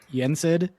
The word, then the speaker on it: NSD: NSD, which I presume is pronounced Yensid, just missing a couple of letters, right?